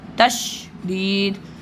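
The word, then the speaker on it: تشديد: अगर मैं ऐसे लिखूंगा तो तशदीद कुछ वैसा लग रहा है तशदीद तशदीद हल्का हल्का सा आवाज है तश यानी तश अलिफ का थोड़ा सा वो आ रहा है तशदीद ठीक प्रोनाउंस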